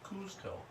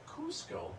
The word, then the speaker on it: Cusco: c z Co Kuzco and some people still pronounce it kzco uh it is now spelled c c and it's Cusco now why now by the way this this